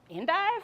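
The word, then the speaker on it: endive: and I was like how do you pronounce e-n-d-i-v-e she was like in dive I was like andif and she was like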